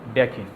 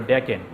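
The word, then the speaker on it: decyne: জেনে নেওয়ার জন্য বলছিলাম সর্বশেষ ছিল ডেকেন আর এখানে হবে উচ্চারণটা ডেকিন আমরা এখানে বলছি এরা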